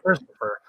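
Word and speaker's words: Kristofer: know this but uh my name is actually christopher but it's spelled k-r-i-s-t-o-f-e-r that's what's up so i pulled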